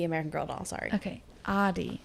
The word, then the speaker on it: Adi: girl doll sorry okay adi we're going to change our enunciation of the a over here adi was um an